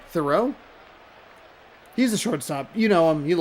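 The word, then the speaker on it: Theriot: Ryan Terriot? Nope, that's how I always say it wrong. Thoreau?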